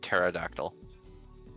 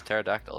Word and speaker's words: pterodactyl: like a real question, it is just pterodactyl. Yeah, P is silent. K is silent. Lots of silent letters in English because this language is amazing. No, I meant to Oh, that's messed up. Yeah, it's pterodactyl. It's a silent P.